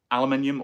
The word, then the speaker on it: aluminium: The absolute best material that everyone tells me is aluminium or aluminum, depending on which country you're from and how you pronounce it.